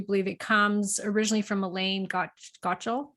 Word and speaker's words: Elaine Gottschall: But the specific carbohydrate diet, if I do believe it, comes originally from Elaine Gottschall, right?